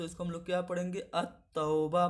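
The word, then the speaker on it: التوبة: हम लोग क्या पढ़ेंगे, अत-तौबा पढ़ेंगे, अल तौबा नहीं अत-तौबा पढ़ेंगे, यानी कि यहाँ पे जो लाम है वो साइलेंट है, इसलिए यहाँ पे अत-तौबा जो होगा वो आपका हर्फ शमसी होगा।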